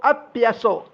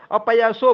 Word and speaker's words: अप्यसो: एको अप्यसो। देखिए अब यहाँ क्या हो रहा है कि भक्त अपयसो बोलना, अपयसो अपयसो मत बोलिए, अप्यसो अप्यसो अप्यसो अप्यसो।